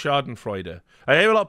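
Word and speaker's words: Schadenfreude: pretty sure is pronounced Sharden freuder I hear a lot of people say shardan Freud but I think you pronounced the E right uh that's how I've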